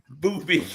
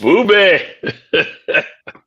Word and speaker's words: Booby: The great Boopy Booby.